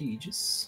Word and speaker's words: Aegis: Is that correct? Is that how I'm pronouncing your name? Yes, it's Aegis.